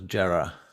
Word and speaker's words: Jera: one um we're gonna say her name was jarrah i better make a note of that before